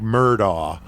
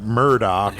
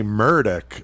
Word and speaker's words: Murdaugh: Now, one thing about the name, if you look at the spelling of it, it looks like Murdaugh. But they pronounce it Murdaugh, and I've even heard him say...